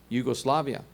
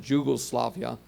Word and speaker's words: Yugoslavia: why it's pronounced with a Jane but it's pronounced Yugoslavia it's not pronounced if you pronounce it jugo-slavia people look at you because it's Yugoslavia but